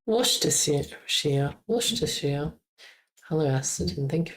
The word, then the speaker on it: Worcestershire: Worcestershire. Start with a W sound, a W sound. Worcestershire.